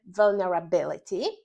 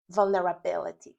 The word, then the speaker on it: vulnerability: Najważniejsze w wymowie, jak we wszystkich słówkach angielskich, to zaakcentować właściwą sylabę. Tutaj by vulnerability. Yyy, akcentowana sylaba to jest ta sylaba, która jest głośniejsza, wolniejsza, wyższym tonem głosu niż cała reszta.